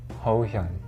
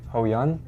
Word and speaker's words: Hohyun: So it's spelled HOHYUN, and it's pronounced HOHYUN. HOHYUN. Some people say HOHYUN if it's easier, but HOHYUN.